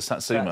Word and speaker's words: satsuma: It's a Satsuma. It's a Satsuma. How do you know the difference? The way I work out the difference is, does it rhyme with I Heard a Rumour by Bananarama?